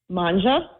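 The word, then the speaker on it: Mangia: Manja, M-A-N-G-I-A, with Michelle with one L.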